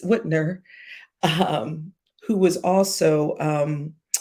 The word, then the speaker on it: Whitmer: the governor to um Gretchen Wilmer I don't know why I can't say her name it's Whitner um who was also